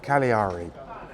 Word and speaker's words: Cagliari: It's pronounced Cagliari.